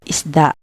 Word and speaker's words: isda: For example, in isda, the letters S and D are together, so you can mentally split them as is, da. This makes it much easier to read the word correctly.